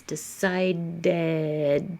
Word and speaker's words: decided: Ends with a D. Decide. So you have to make some space. Decided. Put your tongue back up. Extra syllable.